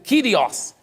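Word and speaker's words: κύριος: essa palavra no grego a palavra escrito curiós pronuncia aqui no grego kyrius só que que significa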